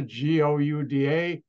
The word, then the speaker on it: Gouda: a Dutch company that was headquartered and you pronounce the g-o-u-d-a gouda and that's the Dutch pronounce it and